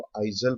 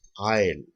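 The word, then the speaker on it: aisle: अब इसी तरीके से आई एस एल ई, कई स्टूडेंट्स को आइजल प्रोनाउंस कर देते हैं, वो गलत होगा। This is ए आयल।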